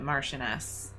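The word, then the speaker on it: Marchioness: After her marriage to Jonathan Blake, the Marquez of Dune in 1881, she gained the title of Martianess, actually, that's how you say it.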